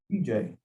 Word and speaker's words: Vijay: How do you pronounce it? VJ. Oh, VJ.